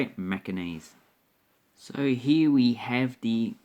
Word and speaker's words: Macanese: And yes, that's how you say it, Macanese.